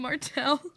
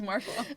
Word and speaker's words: Martial: And it's actually, no, it's just Marshall.